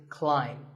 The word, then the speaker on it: climb: see on the screen the AI is an AI sound not an a sound so the word is climb by the way what's